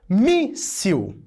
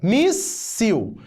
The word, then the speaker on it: míssil: É o caso, por exemplo, de míssil. Ó, míssil. Primeira sílaba, mi. Segunda, sil. É a penúltima sílaba que é a tônica. Logo, nós não vamos acrescentar is. Nós vamos acrescentar eis. Míssil, mísseis.